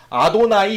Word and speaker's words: 아도나이: 그럼 뭐라고 읽느냐? 아도나이 이렇게 읽습니다.